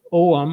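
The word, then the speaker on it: Ogham: Northern Africa, and then there was uh Celtic Om, or people sometimes pronounce it OM. I used to pronounce it ugum, but it's om.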